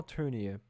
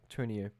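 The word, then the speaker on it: Tournier: At that stage, apart from the writings of the of the Christian Swiss psychiatrist Paul Turner, that's how you say it. Yeah. Turner. Paul Turner.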